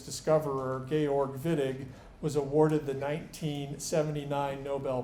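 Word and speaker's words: Wittig: synthesis so behold the viig reaction uh we organic chemists pronounce the W like the German speakers would if you want to call it the whittig reaction we will smirk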